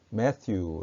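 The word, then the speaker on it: Matthew: 링 투 매튜 마테 마태오 는 영어로는 매튜 라고 발음합니다 그러니까 마태복음 혹은 마태오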